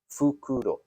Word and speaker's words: fukuro: Fukuro. Right. But not fukuro, which is an owl, right?